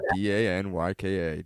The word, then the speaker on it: Danyka: And I was like, Danica, Danyka.